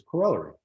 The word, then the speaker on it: corollary: And the word corollary, I first pronounced it in the Welsh or British or Australian version of the word, which was corollary.